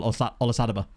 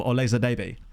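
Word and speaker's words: Olisadebe: because I loved Emmanuel Olasadaba. Except because I was a child, I didn't know how to pronounce his name, so I used to call him Olezadebe, which I think just sounds even better, personally.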